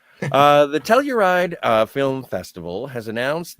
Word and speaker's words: Telluride: features in the lineup telluride will is that how you say it yeah i tell you right uh we'll showcase several